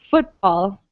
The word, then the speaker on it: football: And the same with, so another thing to note, football, right? We stress the first syllable of football.